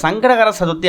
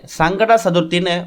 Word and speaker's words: சங்கடஹர சதுர்த்தி: முதல்ல இந்த சங்கடகர சதுர்த்தி அப்படிங்கிறத முறையாக உச்சரிக்கணும். நிறைய பேர் சங்கட சதுர்த்தின்னு மொட்டையாக சொல்லுவாங்க. அப்படி சொல்கிறதால உங்களுக்கு சங்கடங்கள் அதிகமாகுமே தவிர சங்கடங்கள் தீராது. சங்கடகர சதுர்த்தின்னு முழுமையாக உச்சரிக்கணும்.